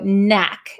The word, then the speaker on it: knack: a k but we don't pronounce it so it's the same as the word no or knee there's a silent k followed by an N so Knack and be careful this is an a not an O if you write k-n-o-c-k